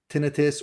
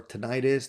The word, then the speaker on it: tinnitus: on my video where I talked about developing tinnitus or tinnitus, depending on how you like to pronounce it.